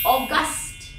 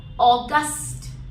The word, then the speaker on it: august: But if I talk about the second word, which is August, August, the stress is on the second syllable here, August.